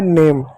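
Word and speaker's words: name: इतने को हम पढ़ेंगे नेम।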